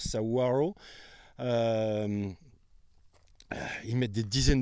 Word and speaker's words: saguaro: je prononce bien c'est ça s'écrit saguaro mais ça se prononce saaro euh ils mettent des